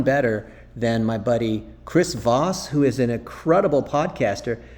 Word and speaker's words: Voss: to everyone follow chris voss chris voss is a boss vos rhymes with boss so i'm making him